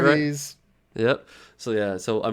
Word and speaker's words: Voorhees: Voorhees.